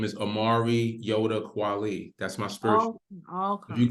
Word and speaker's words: Nyota: the Omari quality and the middle name is pronounced Yoda yes like Yoda from Star Wars Omari Yoda true